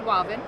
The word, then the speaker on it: Wavin: he liked it so he created walvin which stands for water and vinyl oh okay and so ever since then it's probably pronounced right that is how it's pronounced stands for water and